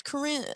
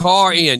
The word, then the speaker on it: Corin: Corin, my insurance lady, I goes, thought it was Corinne. I keep pronouncing. Corin. You know how you know how she made sure I pronounced it right yesterday? She said it's like saying car in your driveway.